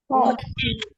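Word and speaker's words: 꽃: Oke, jadi baca kuch, bukan coach ya. Dibacanya adalah kot. Kecuali kita pakainya seperti ini. Nah, ini baru dibaca sebagai koci atau gini ya. Koci. Tapi kalau tidak ada diikuti vokal akan dibaca kot seperti huruf T.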